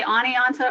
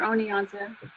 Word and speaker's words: Oneonta: for me Oh Nita you can say Oneonta or Oneonta I sure the name